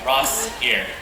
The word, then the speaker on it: Rossier: Rossier. 2 syllables.